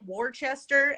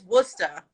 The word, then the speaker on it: Worcester: and and again like y'all pronounce it warchester and i'm like wha who where is worchester like no it's worcester okay i think it's